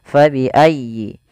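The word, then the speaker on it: فبأي: Fabiayyi di sini fa harus dialirkan jangan sampai diganti dengan p jangan diganti dengan fa biayyi. Ah jangan. Tapi kemudian dia bacanya dengan huruf f faayyi.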